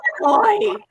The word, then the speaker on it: Illinois: Yeah. That's a silent. See, they're both from here. Don't say this. Yeah, there's no S. It's S silent. is silent. It's just I was like, shit, there's an S on there.